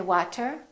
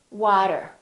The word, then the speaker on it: water: after me water water we don't say water we say water auto auto automatic we